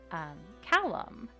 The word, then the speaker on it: Calum: If we pick the Calum option, which interestingly enough, a couple of you have mentioned that in your areas you pronounce his name Callum, like calumny.